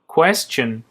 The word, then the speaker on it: question: question سوال. دقت کنید که tion اینجا صدای چه میده.